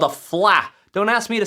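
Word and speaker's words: Fleadh: So it's actually spelled F L E A D H. making you say fl. The d is silent.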